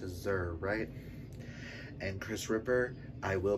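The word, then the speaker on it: zir: hope i'm pronouncing that z-i-r that's pronounced azer and chris ripper i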